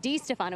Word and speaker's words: DiStefano: And guys, just so you know, Wes DiStefano, he was so kind to elaborate on the mispronunciation of Di Stefano. It is DiStefano. I think I've called him DiStefano, DeStefano, DiStefano.